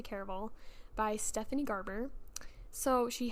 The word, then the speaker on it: Caraval: that by the way I've heard a lot of people pronounce it differently but I'm gonna say care of all by Stephanie Garber so